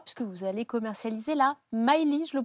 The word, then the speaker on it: Myli: de votre histoire puisque vous allez commercialiser là Miley je le prononce bien tout à fait Maëly donc qui est une petite voiture électrique sans